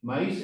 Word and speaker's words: maíz: maíz un bastante genérico para falar de milio aquí a palabra maíz que no vogado fechada mayor intensidad de voz na boga fechada cuando decimos que fue